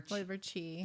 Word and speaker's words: qi: It's spelled QI, but it's liver qi.